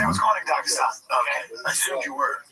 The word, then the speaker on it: Dagestan: I didn't say I was going to Dagestan. Okay. I assumed you were. No, it's actually pronounced Dagestan. I don't know if you didn't get it right there.